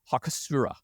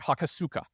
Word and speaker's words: Hakosuka: GTR was soon bestowed with the nickname of hakura I'm sorry hakosuka which combines the Japanese word for box with